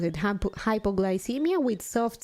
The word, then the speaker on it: hypoglycemia: Soft C hypoglycemia not chemia okay thank you Eric